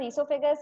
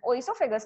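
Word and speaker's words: oesophagus: अब आप बोलोगे ईसोफेगस क्या है, और देखिए प्रोनाउंस किया है मैंने ईसोफेगस और स्पेलिंग चालू होती है ओ से, तो आप बोलोगे इसका तो प्रोनाउंसिएशन ओइसोफेगस होना चाहिए. भाई आपको ऐसा करना होता आप कर सकते हो, स्पेलिंग राइट लिखना.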